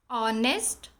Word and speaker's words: honest: Honest, honor, are, air. In these words, H is silent.